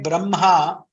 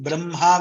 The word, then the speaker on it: brahma: The South Indians, we follow k plus ma as mha, makara we pronounce first, brahma we pronounce. We don't pronounce it as brahma. There are some North Indians who pronounce it as brahma. They are not wrong, but this is more correct because there is a